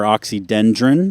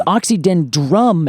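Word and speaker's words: Oxydendrum: I can I bet the two biggest mispronunciations yeah are oxydendron yes and Arboretum yes you literally called it that's exactly it so it's oxidyn drum as in I hit a drum and I make drum sounds and I don't know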